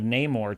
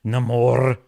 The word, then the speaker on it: Namor: the one that uh corrected the pronunciation of neyar to namore it's Nam more she also had the